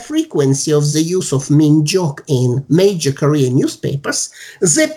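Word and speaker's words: 민족: It's pronounced minjok.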